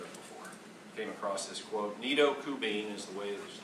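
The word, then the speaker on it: Nido Qubein: never heard of before came across this quote nidokubene is the way his name is pronounced does not sound like someone's name but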